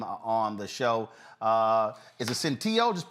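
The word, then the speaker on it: Senteio: Is it Centillo? Just pronounce the last name, Doc. Centillo. Centillo, got it.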